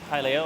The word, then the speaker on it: Hylia: And we're going to walk to Lake Hylia, or Hylia, depending on how you say it.